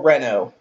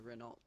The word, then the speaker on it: Renault: See, I'm still gonna call it Renault because just to me, the T is silent.